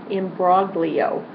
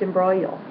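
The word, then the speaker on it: imbroglio: Uh number 19, a tricky word to pronounce because it looks like imbrogio, but it's embroal. Embro. Um you don't hear that. don't pronounce that.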